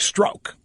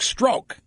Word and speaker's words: Strzok: stroke I'm pronounced Quezada I still don't know what the correct pronunciation I've heard it both ways I guess it's stroke but I kind of like the name struck stroke so I'll stick with that Peter struck stroke who